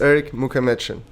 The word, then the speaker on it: Erik Mukhametshin: It's Erik Mukhametshin.